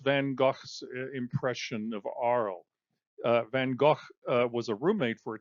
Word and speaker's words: Van Gogh: And then again, you know, there's Van Gogh. Um, that's how it's pronounced in Dutch.